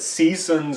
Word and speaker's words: C-Sons: Portland Oregon we have seasons at greetings emphasis on the sea we're a little late